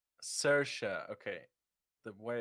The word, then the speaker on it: Saoirse: Her name is Saoirse. Saoirse. Okay. The way it's spelled is like throwing me off.